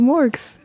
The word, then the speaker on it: Morgs: I'm gonna call you morgs m-o-r-g-s and with a hard G not a soft one just so there's no